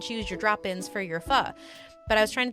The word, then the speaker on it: pho: And I really like fu, which is spelled pho.